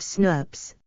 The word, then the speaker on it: snRNP: Small nuclear RNA, snRNA, molecules bind to specific proteins to form a small nuclear ribonucleoprotein complex, snRNP, pronounced SNRPs, which in turn combines with other snRNPs to form a large ribonucleoprotein complex called a spliceosome.